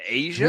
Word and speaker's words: A'ja: apostrophe J-A is pronounced Asia? Here you go. It goddamn show is pronounced Asian.